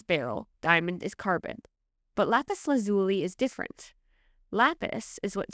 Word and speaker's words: Lapis Lazuli: This has been pronounced in many ways, Lapis Lazuli, Lapis Lazuli, etc., all of which accounts report that Lapis Lazuli is the most prominent and most accepted.